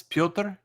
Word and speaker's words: Piotr: Well, actually, I mean, this is Piotr. Yeah. So basically, like, it's Piotr. That's pretty self-explanatory.